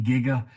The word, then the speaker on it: giga: Future, you'd say it's I pronounce it with a hard G, Giga.